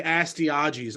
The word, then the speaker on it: Astyages: When King Astyages, how do you say that? Astyages? I would say Astyages.